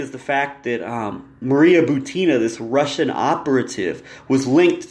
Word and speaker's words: Butina: And Maria Butina, it's Butina, not Bukova.